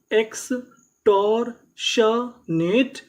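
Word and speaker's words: extortionate: तो पूरी meaning x टॉर शनेट एक्सटॉरशनेट और हमें यहां पे आखिरी में इ का उच्चारण नहीं करना।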